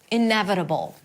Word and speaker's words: inevitable: Inevitable. Primary stress is on n.